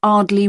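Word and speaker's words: Ardleigh: Andrea Brown thank you and your address 24 Arley Road can you spell that a r d l e i g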